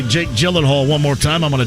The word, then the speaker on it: Gyllenhaal: hear jmv say jake gyllenhaal one more time i'm gonna drive off the road i'm 98 sure it's a g and not a j i'm snooty i'm being